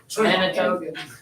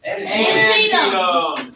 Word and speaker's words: Antietam: Manitoga. And it's I'm glad I asked you to try. Antietam.